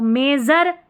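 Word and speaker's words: measure: यू आर ई में तो मेजर में एस यू आर ई को जर पढ़ा है प्रेशर में शर पढ़ा है एस यू आर ई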